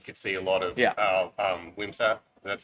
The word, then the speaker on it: Wimsatt: I don't think it's going to matter game 1, but game 2, I think you could see a lot of Wimsatt.